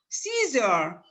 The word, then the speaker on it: Caesar: it is pronounced e caesar caesar c caesar a e but it is pronounced e okay c is e a e the sound e but the letters e